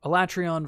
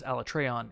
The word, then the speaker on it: Alatreon: So Alatreon versus Alatreon is purely a translation pronunciation thing. It's not like there is no truly right or wrong answer there. You're just putting the accent on a different vowel.